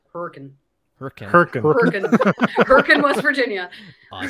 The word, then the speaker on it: Hurricane: Down the road for me, the next town over is spelled like hurricane, but it's pronounced hurricane.